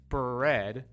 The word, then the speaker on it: bread: another er sound and bread actually is just the r by itself however it still is the same or a very similar sound because you can hear the little uh vowel sound right after the b and before the r bur